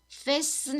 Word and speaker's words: fasten: 여기서 fasten 할 때 T가 보이시지요? T는 묵음이어서 소리가 안 나요.